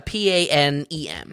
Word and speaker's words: Panem: And is it pronounced like the old airline? No. It's a Panem.